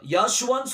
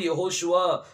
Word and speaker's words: யெகோஷுவா: ஆனா யாஷுவான்னு சொல்லி வரும்போது அதுல நடுவில் என்னது இல்ல, வாவு இல்ல. அந்த வா மிஸ்ஸிங், அது சரியான உச்சரிப்பு இல்ல. வேதத்தின் அடிப்படையில பார்க்கும்போது யெகோஷுவா அப்படிங்கிற பேர் தான் சரியான உச்சரிப்பா என்ன செய்யும் வரும்.